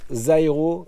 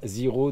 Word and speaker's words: Zyro: En fait, ils m'ont dit ça se prononce Zairo et moi je suis le seul tocard à dire Zero depuis 2 vidéos.